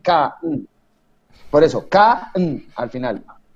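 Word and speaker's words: Kahn: acá sólo queda porque el h no se pronuncia entonces es philip k por eso acá al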